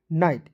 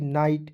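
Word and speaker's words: night: मेहनत लगता है देखिए एन आई जीी एसटी तो एन का न लिख देंगे और आईजीएसटी को दोस्तों इसमें आइट जोड़ देंगे हो जाएगा नाइट एन आईजीएसटी नाइट उसी प्रकार आप खुद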